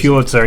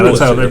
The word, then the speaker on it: Pulitzer: Is that how you pronounce it? By the way, Pulitzer. Yeah, Pulitzer, that's how snobs like Crocker pronounce it.